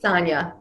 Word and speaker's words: Sanja: but you did well it is pronounced correctly sanya all right thank you